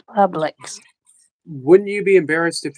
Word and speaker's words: Publix: up here and say Publix. He's saying it wrong. Are you sure I'm saying it wrong? Yeah, you were saying it definitely wrong. It's Publix.